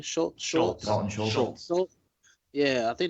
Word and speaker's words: Schultz: Schultz.